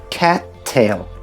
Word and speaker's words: cattail: So it's not “cat”, but “ca-”, pause “tail”. Cattail.